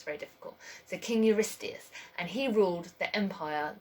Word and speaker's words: Eurystheus: So King Eurystheus, and he ruled the empire, the kingdom of Argos.